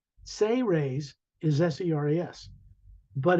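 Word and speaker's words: Seras: it sounds like the say raise say raise is s-e-r-a-s but it's pronounced as if it was spelled s-a-y hyphen r-a-y-s say raise a a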